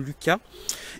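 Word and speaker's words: Lusca: Donc le Lucas, ça s'écrit L-U-S-C-A, je pense que ça se prononce quand même Lucas, et ce sont des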